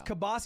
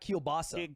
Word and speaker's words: kielbasa: what that's not true that's how you pronounce it I'm that's like what present I thought it was what he thought just that it's kabasi it's not kielbasa president will call it